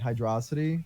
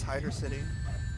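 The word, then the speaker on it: Hydrocity: First, somebody in the chat is giving me shit for pronouncing it Hydrosity. Like, isn't that how you pronounce it? I think it's Hydro City. Hydro City, but everybody says fucking Hydrosity, just like everyone said fucking Studiopolis.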